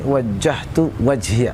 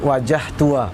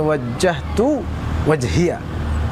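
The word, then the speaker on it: وَجَّهْتُ وَجْهِيَ: itu disitu yang penting penekanannya utuh ini wajjahtu wajhiya Hai jangan sampai mu bacanya tuh ini wajah tua ah Jangan begitu ya wajah tua jalan Tapi ini wajjahtu wajhiya jadi cara melepaskan penekanan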